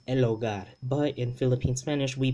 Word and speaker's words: hogar: ogar so el ogar instead of saying elogar as in the not like in the standard spanish which should probably be elogar but that h is silent and it is always silent in spanish okay it never makes